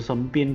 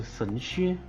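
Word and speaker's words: 神靴: 之前我就是读成神鞭对吧？不好意思啊，是神靴。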